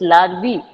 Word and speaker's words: larvae: Ma'am, how is it pronounced? Now you have... It's larvae. Larvae.